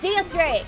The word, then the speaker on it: X Drake: Oh, that's DS Drake, or X Drake, or whatever he goes by. It's spelled X Drake, but like pronounced DS Drake.